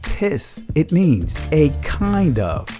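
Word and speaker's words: τις: definition of the word art says and it's pronounced tis it means a kind of any in other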